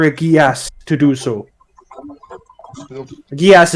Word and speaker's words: geas: Gias is spelled Geas.